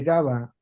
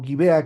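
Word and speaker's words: Gabaa: Pero evidentemente que tanto los que estaban la población de Gaba o Gibea, que al final es igual, ¿eh? Gaba o Gibea se pronuncia, es la misma palabra.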